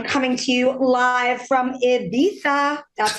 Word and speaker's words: Ibiza: flamberg guys i'm coming to you live from ibiza that's how locals say it that's right ibiza hello or olaf